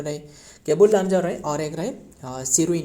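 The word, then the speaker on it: Keibul Lamjao: Next number 8 cable, ये काबुल नहीं, केबुल लामजाओ। बताइए केबुल लामजाओ रहे, असल में ये स्पेलिंग भी गलत रहे, ये होने वाला है केबुल KEIVUL।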